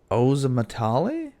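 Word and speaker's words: Ozomatli: o z o m a t l i oam matali oam matali yeah I don't know I don't know that's how you spell it anyways cut chemist Suite uh by o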